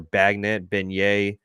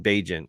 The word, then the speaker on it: Bagent: It's going to be Tyler Beignet. I don't know how to pronounce this dude's name anymore. Tyson Bagent. Yeah, there you go.